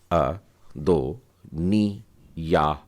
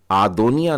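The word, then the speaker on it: אֲדֹנִיָּהוּ: तो यह हो जाएगा अ दोनी या ह अदनिया अदनिया इसका उच्चारण आपने देखा मैंने कैसे किया मैंने अद नहीं बोला आदो निया नहीं बोला परंतु अदनिया तो आ का उच्चारण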